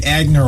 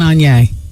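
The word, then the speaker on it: Aigner: Was it Etienne Agner or Anye? Etienne Anye. There you go.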